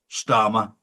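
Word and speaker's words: Starmer: And of course, Starma rhymes with karma.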